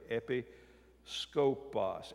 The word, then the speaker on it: episkopos: Now, we usually pronounce that episkopos, but it helps me to hear the word better if I pronounce it this way, episkopos.